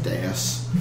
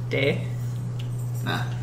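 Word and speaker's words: dais: on like a little bit of a raised dasas um there are that's how that's pronounced hm that's how that's pronounced yes yes how have you been pronouncing it Day N it's Das okay you're French you make a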